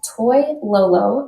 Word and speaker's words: Toilolo: toy L is how you say my last name t o i l